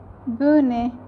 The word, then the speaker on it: Bohne: Number 2 is bohne. Same is the sound of E applied in it as A, bohne.